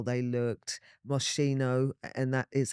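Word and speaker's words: Moschino: UK garage were really into how they looked mosino and that is how it's pronounced cuz I had a bit of a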